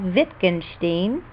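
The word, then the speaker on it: Wittgenstein: a famous thinker called viscous steam the W is pronounced like a V once after friend and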